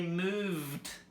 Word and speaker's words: moved: So the verbs which have a voice sound at the end, we add the d sound, not the ed sound or the t sound. We simply add the d sound. For example, move, we say moved.